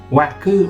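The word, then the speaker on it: 惑: Yeah, and then this one make the sound waku, right? So that's why I try to include the work in the mnemonic, right? Work to make the pronunciation mnemonic or waku.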